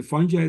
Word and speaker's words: fungi: And one of the fun things is that the pronunciation of the word itself, fungi, you were telling me that you can say it any way you want, and you're not wrong.